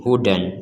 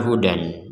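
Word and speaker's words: هُدًى: dua harakat Huda Huda Jadi Yang Pertama kita membacanya Hudan kemudian karena kita berhenti ya kan kita membacanya dengan Huda contohnya wa yaquba Wal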